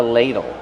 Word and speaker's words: ladle: This is a ladle. How do we pronounce ladle? Ladle. Use a long a sound like pay and say lay. Ladle. Use a fast d and a short sound o like in table.